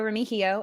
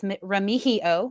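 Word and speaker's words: Remigio: um I still love Nico romijio as we've learned it's ramihio we've been pronouncing it wrong the whole time that's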